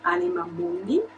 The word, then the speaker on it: Anima Mundi: So in Italian we pronounce it Anima Mundi, and Anima Mundi means